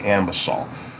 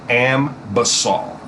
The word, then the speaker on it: Anbesol: You're going to see it written A-N, but it's clearly pronounced, in my opinion, A-M, A-M, Ambesol, okay?